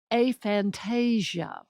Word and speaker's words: aphantasia: more in a minute a and that's how it's pronounced and I'll tell you why in a minute too a Fantasia and I should have